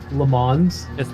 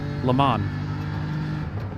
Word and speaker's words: Le Mans: You do say the N. Le Mans. But no S. Just Le Le Mans. Mans. Yeah. Wait, how do you say it? Le Mans.